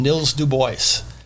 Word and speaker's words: Nils Du Bois: And the first lot he sold off was to a little carpenter named Nils Du Bois. That's how they pronounced his name at the time.